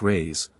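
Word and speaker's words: reis: the Portuguese pennies or Reese pronounced rays are pred ious it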